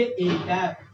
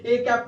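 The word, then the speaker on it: â: और इसको बोलेंगे कैसे, प्रोनाउंस कैसे करेंगे, तो बाबू पढ़ेंगे ए कैप। क्या पढ़ेंगे? बहुत सुंदर, ए कैप पढ़ेंगे ना।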